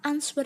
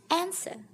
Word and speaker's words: answer: Ternyata answer itu juga kurang tepat. Seharusnya adalah answer.